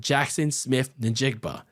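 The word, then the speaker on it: Jaxon Smith-Njigba: fighting two new top receivers to go alongside Jackson Smith Ninjbba. There you go for all the people that roast me in the comments for mispronouncing his name.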